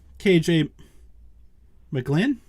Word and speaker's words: KJ McGlinn: My guest tonight is KJ McGlinn. Did I say that right? Yes, sir. Yep, you sure did.